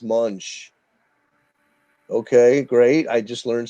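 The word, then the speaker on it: Moench: It's not Doug Monk. It's pronounced Munch.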